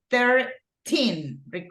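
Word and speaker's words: thirteen: This is 13. Remember that the A stress syllable in this case goes in the tin, right?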